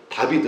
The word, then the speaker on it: 다비드: 근데 그게 이제 그 발음 그대로 읽으면 다비드거든요. 다비드예요. 예, 그러니까 히브리어로 읽으면 다비드. 그러니까 이제 스페인이나 이런 데 가면은 다비드, 뭐 축구 선수 중에 다비드 굉장히 많아요.